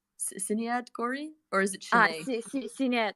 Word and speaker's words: Sinead: Sinead, the designer you work with, Sinead Gori, or is it Shanae? Sinead, Sinead.